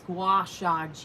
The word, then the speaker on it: gua sha: release that superstar is no good i am pronouncing it right it's it's gua shag you a with a g g-u-a-s-h-a i just